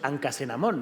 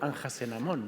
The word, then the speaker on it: Anjasenamón: Claro, porque su esposa, Anjasenamón, no decimos Ancasenamón, ¿no? La solemos pronunciar como Anjasenamón, ¿no?